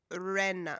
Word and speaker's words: Irena: and other social medias explaining how they pronounce their names. Right. We're like Irena with a hard R, whatever that means. Irena.